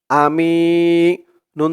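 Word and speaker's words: أمين: মিম ইয়া জের মি আমি নুন জের নি আমি এখানেও সেম এক নিয়মেই যদি অক্ষফ করি তাহলে উচ্চারণ করতে হবে আমিন তিন আলিফ টান হবে মধ্যে আরজি দর্শক মদ্দে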